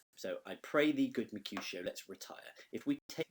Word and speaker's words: Mercutio: You have to do it as Mercutio. Okay, so it's 3 syllables for Mercutio.